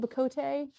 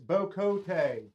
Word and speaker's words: Bocote: Is it Bacote? It's Bocote. Whatever.